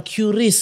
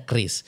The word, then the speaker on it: QRIS: Jadi kan ada yang bilang QRIS gitu, kan ada yang QRIS. Ada yang bilang KRIS. Nah, ternyata kalau kata Bapak Ibu pejabat itu yang bacanya KRIS. KRIS ya. Meskipun kadang-kadang kita lebih enak QRIS gitu ya.